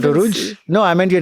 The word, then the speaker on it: Urooj Ashfaq: Please welcome the incredibly funny and sharp Urooj Ashfaq. Did I say that right, Urooj? It's a generous introduction but Is it not, Uruj?